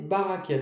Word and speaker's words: Barachiel: Donc, on prend une bougie violette, d'accord, et on va graver Barakel sur la bougie, mais ça s'écrit Barachel. On dit Barakel, mais ça s'écrit Barachel.